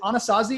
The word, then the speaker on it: Anasazi: And I just want to talk real quickly about, is it Anasazi? Is that how you pronounce it? Anasazi Holdings, yes.